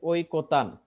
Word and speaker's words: ঐকতান: একটু লিখে রাখতে পারো ওই টা উচ্চারণের সময় আর ঐ থাকবে না সেটা হবে ও রস ই যেমন এখানে দেখো একটা শব্দ আছে ঐকতান দেখতে পাচ্ছ এখানে একটা শব্দ আছে ওই কোতান হ্যালো আছে লাইনে নাকি